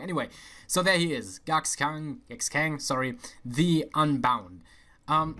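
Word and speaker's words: Gaxkang: footnote witness gatsking oh it actually pronounced guck's king instead of cox kang i was pronouncing it completely wrong anyway so there he is gux kang ex-kang sorry the unbound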